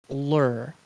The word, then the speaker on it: lur: The word The word is lure. Lure. Mhm. Not lure. Not lure.